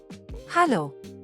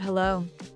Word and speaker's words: Hallo: hallo, This is the most commonly used form of greeting in Germany. Notice the difference in the pronunciation. It's hallo, and not hello.